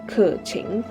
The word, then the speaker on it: Keqing: Moving on, we have Keqing, whose correct pronunciation is actually, Kèqíng.